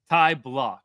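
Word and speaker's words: Ty Blach: So, um, it's Tai Block. Ty Block is how you pronounce it.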